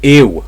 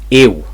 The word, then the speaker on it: ill: I'm ill right now. Ill, not ill, ill. So it's a W sound.